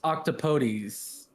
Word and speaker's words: octopodes: It was it's pronounced octopodes.